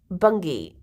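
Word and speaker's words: Bungay: suffoca nor right like a place called Bungi but it spelled like bungeay which when I was there I took so many photos of signs.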